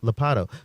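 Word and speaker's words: Ladapo: with Florida Surgeon General Joseph, how do I pronounce his name? Lopatto.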